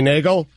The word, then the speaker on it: Neagle: okay Scott pose perfect Denny Neagle going on two syllables boom boom in your